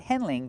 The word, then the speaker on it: handling: Not handling, but handling. Use the a sound like fan and man.